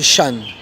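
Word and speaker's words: 山: Donc le premier c'est Shan. Shan ça veut dire montagne. Le signe que vous voyez en bas c'est le signe de la montagne. Et vu que c'est AN, ça se prononcera Shan.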